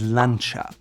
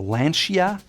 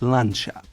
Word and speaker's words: Lancia: Another car brand with a long history is Lancia. Now when you see it first, you may think it's Lancia or Lancia, but the Italians call it Lancia. Very soft, Lancia.